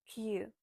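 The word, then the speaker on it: queue: When you look at this word, you might think that you should break your tongue pronouncing this, but no, it's actually so much easier and it's only one letter. It's Q.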